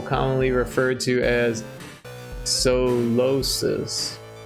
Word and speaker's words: Solosis: It's a psychic type Pokemon with an emphasis on the second syllable commonly referred to as solosis.